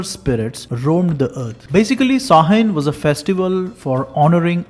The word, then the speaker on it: Samhain: Despite this spelling sounding Samhain, it's actually pronounced Samhain.